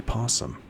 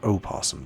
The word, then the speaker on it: opossum: And at the moment, that is a ghastly possum or opossum, depends on where you're from.